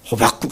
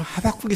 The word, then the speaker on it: 하박국: 제가 미국에 갔더니 어떤 교포교회에서는 호박국이라고 그러더라고요. 그래서 아마 O를 갖다가 미국 사람들은 O를 아 발음하니까 그제 온 줄 알고 호박국이라고 그랬나? 그런 생각을 했었는데 그건 아니고요. 그냥 웃기는 말로 호박국 선지자 그런 얘기를 하더라고요.